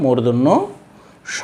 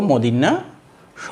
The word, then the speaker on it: মূর্ধন্য: ন নয়, ঠিক একইভাবে এখানেও মূর্ধন্য স বলবো, মদিন্যা স বলবো না। শিক্ষার্থীরা কিন্তু অনেকেই কিন্তু কী বলে মদিন্যাস, মদিন্যান, মদিন্যাস। তো মদিন্যা ন নয়, এটা হচ্ছে মূর্ধন্য ন আর মূর্ধন্য স, এইভাবে আমরা উচ্চারণটা করব।